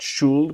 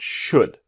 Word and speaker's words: should: do now remember should the L is silent not shoeld but should what do you think